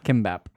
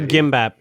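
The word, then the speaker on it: 김밥: Kimbap. Or gimbap. So it's spelled differently. So it's either a G or a K.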